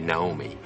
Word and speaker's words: Naomi: okay so Naomi and Naomi Most Japanese or um people in kajima Productions probably just pronounce it Naomi mhm um which is a very Japanese way of saying other is like uh